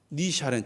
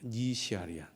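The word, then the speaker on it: 倪夏莲: 니샤렌 처음 들어보셨을 거예요. 처음 들어보셨죠? 대답을 안 하시는데 이름을 좀 더 정확하게 말하면 니시아리안입니다. 니시아리안.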